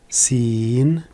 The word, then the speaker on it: س: jada cassera cassard atteint la lettre sin sin signe pour sa prononciation je vais utiliser la lettre s minuscules comme dans siège sifflets civil est donc ça se prononce il se prononce comme dans sifflets et sièges tandis que sade se